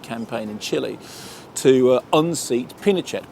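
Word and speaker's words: Pinochet: in Chile to unseat pachette pachette not pet we said pet he corrected us pronounced pachet anyway it's a brilliant political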